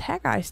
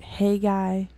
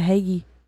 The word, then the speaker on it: Haggai: past four or five months and it was haggai's turn uh we're gonna say that haggai because I have no other pronunciation for it um that's actually the proper pronunciation good I've heard like hey guy and I had an old pasture it used